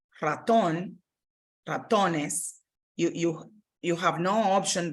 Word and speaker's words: ratón: So you want to ensure that that's where your stress in the pronunciation goes.